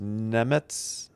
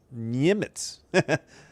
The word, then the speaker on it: Nemec: It's pronounced Nemetz or Niemitz.